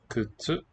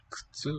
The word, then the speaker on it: 靴: Kutsu. 靴、 Kutsu with a voiceless vowel in the first syllable. Actually, both of them.